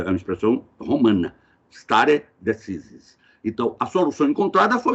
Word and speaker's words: stare decisis: o chamado stare decisis, a pronúncia é essa mesma, né? Porque na língua inglesa eles falam stare decisis, é uma expressão romana, stare decisis.